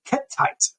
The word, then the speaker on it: Kettite: This isn't Hittite. This is Kettite. That's how you say it. Kettite.